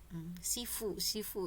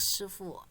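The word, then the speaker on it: 师父: Sifu ya, kalau kita nonton film-film karate barat itu tuh mereka nyebutnya tuh sifu. Bacanya shifu.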